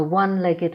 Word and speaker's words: one-legged: A one-legged man. The O is pronounced as wa.